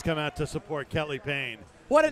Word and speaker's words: Payne: out to support Kelly Payne. What a name for a heavyweight fighter. Yeah. P A Y N E. But it's pronounced the same way as he delivered that blow.